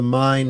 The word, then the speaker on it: Main: That's the the It's called the mine river. It's It's spelled Maine.